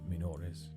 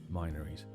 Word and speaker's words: Minories: So it is really a case of whether you can use the assumed Latin pronunciation or the anglicized pronunciation of the word minor or minor. I'm going to stick with Minories just because I think it sounds more like a place name than Minories.